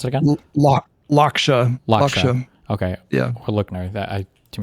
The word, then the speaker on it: Lakshya: Oh, this would be a good question for, I keep wanting to call him Lochner. What's his name? Say it again. Pronounce it again. Lakshya.